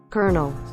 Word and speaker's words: colonel: speech it sounds like and she sounds like colonel my brain camp stops feeding a CAH luenell I know it's pronounced Colonel but I refuse to pronounce it